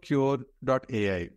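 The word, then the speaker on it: Qure.ai: So tell us something about Cure.ai, right? I hope I'm pronouncing it right.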